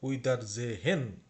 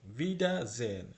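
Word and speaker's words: Wiedersehen: দেখা হবে লক্ষ্য করুন এটা আপনারা অনেকেই হয়তোবা পড়বেন উইদা জেহেন জেহেন ফালস অথবা ভুল জেন যেমন এটার উচ্চারণ জেন বিডা জেন এবং এই ডব্লিউ এর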